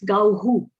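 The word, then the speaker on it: गौः: But pronounce gauhu. Yes. Gauhu. So Au gets the U sound and I gets the E sound in the end.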